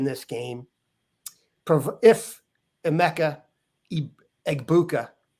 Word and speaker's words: Egbuka: game pro if EMA egbuka that's egg bua not a very hard